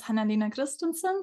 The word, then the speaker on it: Hanna Lena Christensen: all right hello everyone U my name is hanina Christenson so thank you for saying my name the